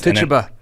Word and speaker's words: Tituba: Tituba.